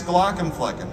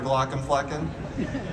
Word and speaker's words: Glaucomflecken: much easier to pronounce Glock and flecken and what the thing is now that people actually think my name is Dr glocken flecken like I I people